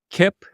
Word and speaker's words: Kipp: do too okay final fact uh so uh Kip is that how you pronounce his name Kip your CMO okay great so he I asked